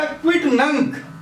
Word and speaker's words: quidnunc: दूसरा क्विट नंक। अब देखिए, स्पेलिंग है QUIDNUNC, पर जब इसका जो आखिरी सिलेबल आएगा वो गेक का आएगा, है ना।